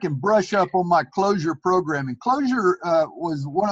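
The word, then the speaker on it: Clojure: to go back and brush up on my closure program and closure was one of the last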